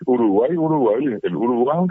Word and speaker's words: Uruguay: El gran problema, repito, de la fonética eh tuvo una variación cuando los españoles al no poder pronunciar esa y final eh cambiaron la la fonetización de la palabra y es Uruguay.